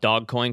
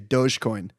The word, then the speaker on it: Dogecoin: can i can i i'm going to call it dog coin because that's i think what it is instead of dogecoin i'm still doge i'm i'm a soft soft g dogecoin okay this is obviously